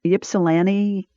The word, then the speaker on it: Ypsilanti: So my husband Tim's family lived up there, and then they moved to Ypsilanti, I think is how you pronounce it.